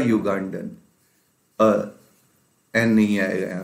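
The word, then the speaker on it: Ugandan: क्योंकि ये साउंड जो है ना वो वाई से प्रोड्यूस हो रहा है, जबकि स्पेलिंग इसकी क्या है? यू से है।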